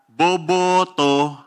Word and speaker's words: boboto: Kaya boboto ako. At tamang bigkas po. Boboto ako. Yan. Boboto ako.